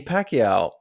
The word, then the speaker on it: Pacquiao: And I was reading through the news and I came across a story about Manny Pacquiao.